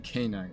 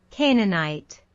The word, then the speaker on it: Canaanite: word wrong right because I'm saying canite and that clearly doesn't say canite canite canite we have